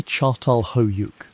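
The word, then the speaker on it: Çatalhöyük: One of the earliest and most remarkable examples of this new way of living is a place called Atalhick, pronounced roughly Chartal Hoyuk.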